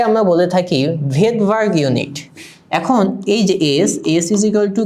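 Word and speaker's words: Svedberg: এই এস মানে হচ্ছে এস কে আমরা বলে থাকি ভেদভার্গ ইউনিট।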